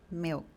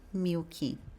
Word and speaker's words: milk: A mesma coisa vai acontecer com a palavra milk. A gente tem a tendência de falar isso aqui como se fosse milky, mas de novo, isso não vai acontecer.